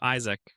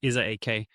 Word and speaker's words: Isaac: His name was Isaac. While they pronounced it as is ak pronunciation was quite similar, but Isaac still couldn't accept this.